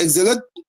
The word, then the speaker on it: exilic: Yeah, like exile. Like it's before exile, before the exile.